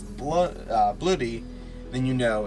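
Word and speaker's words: Bloo-D: And so, because the way you pronounce it is Blue D, bloody, but then at the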